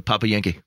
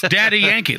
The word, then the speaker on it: Daddy Yankee: Yeah, maybe he's been witnessing to the Papa Yankee. Papa Yankee? Why'd you make it creepier? How do you say that? It's Daddy Yankee.